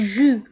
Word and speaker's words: jus: العصير le jus le jus. و لو جو كنكتبوها باس اخر الكلمه ولكن لا تنطق لو جو.